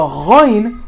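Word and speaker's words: غين: And the ghain is coming from the same exact spot, not from the middle of your mouth. Ghain, like the word, like the G in ghost.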